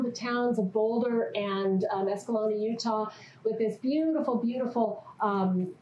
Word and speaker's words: Escalante: Because the way you got to pronounce it is Escalante. Okay? There's a lot of other pronunciations, but it's basically Escalante or Sclanny or Sclant.